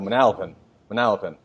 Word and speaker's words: Manalapan: So Manalapan.